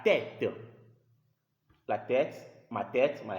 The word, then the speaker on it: tête: So if you see that letter E with a cap in a word, the pronunciation is E, like la tête.